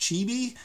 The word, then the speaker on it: Cibi: one from the 1970s it's spelled CI di I'm assuming that's pronounced chibi to me chibi has